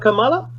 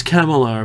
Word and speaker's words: Kamala: So that's what I started with, and then I saw an examination of Kamala Harris, or Kamala, I should say it right, Kamala Harris. Not Kamala? No, it's Kamala apparently.